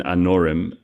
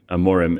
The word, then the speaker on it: Amorim: in the UFC um not Ruben anorm amorim it's meris yeah the